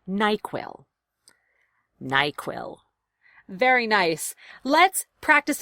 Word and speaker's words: NyQuil: and helps you sleep equals stress on both syllables it's treated like a compound word nyquil nyquil very nice let's